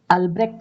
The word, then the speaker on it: Albrecht: पहला अल्ब्रेक्ट नाम है, जिनका स्पेलिंग है ALBRECHT, अल्ब्रेक्ट।